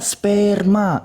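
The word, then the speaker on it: σπέρμα: Pleges ean dote peri amartias puci human opetai sperma sigma mu epsilon rho mu alpha. Dibacanya sperma, artinya apa?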